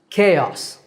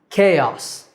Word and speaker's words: chaos: confusion and it's pronounced chaos K like the letter k and o chaos and our last word